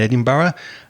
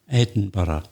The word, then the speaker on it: Edinburgh: We hope you're still enjoying life in Edinburgh and you feel a bit better about understanding the Scottish accent.